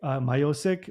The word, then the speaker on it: Miocic: I know in North America you guys say Myiosk, but I know in Croatian sometimes they pronounce your name differently. How do you say it in Cro in Croatia? Much?